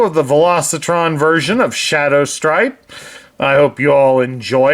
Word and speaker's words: Shadowstrip: the velocitron version of Shadow stripe I hope you all enjoy it I even did his name wrong it's Shadow strip not Shadow stripe but since I don't